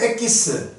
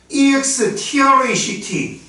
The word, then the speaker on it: extract: 참깨 한포대인데 이거를 꾹 짜서 일본인이 얘기하는 엑기스, 영어입니다. 그거 발음이 안 됐던 거죠. EXTRACT. 자, 요게 영어 발음은 엑기스가 아니고요, extract.